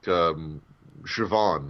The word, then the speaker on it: Siobhan: Just like Siobhan is spelled with a B, but it's pronounced as a V.